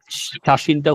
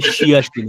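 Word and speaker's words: 写真: তার মানে আমরা যখন এই ইয়াটা যখন আমরা বড় করে দিব তখন হবে শিয়া, যখন আমরা ছোট করে দিব তখন এটা সা হয়ে যাবে, শাসিন।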